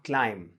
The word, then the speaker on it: climb: जैसे मैंने कहा climb, है ना.